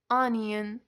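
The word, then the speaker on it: onion: اسفناج کلمه بعد آنین آنین دقت داشته باشید که این کلمه رو قبلاً هم خوندید توی قسمت حروف و او اول به حالت آ و او دوم به حالت ا تلفظ میشه ان م پیاز کلمه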